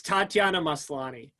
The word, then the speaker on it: Tatiana Maslany: it's Tatiana Maslany.